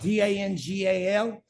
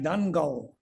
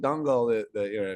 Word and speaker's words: Dangal: It's spelled Dangal, but if you mispronounce it, it's like Dungal.